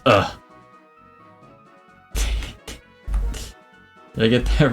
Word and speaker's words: Hugh: It's not pronounced Hugh. It looks like Hugh, right? But it's pronounced differently. And I'm gonna spell it how it's pronounced so that you don't mess it up. It's just so everyone can get it right. It's ugh.